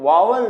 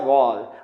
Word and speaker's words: vowel: वावल नहीं पढ़ते इसको इंग्लिश में, इसको पढ़ा जाता है वॉल।